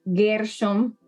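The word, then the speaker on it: גרשום: de origen y entonces gerson así se dice en hebreo gersom es ger el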